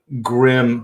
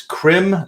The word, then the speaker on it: Krim: saying the name wrong I keep saying grim but it's Krim stone I would get that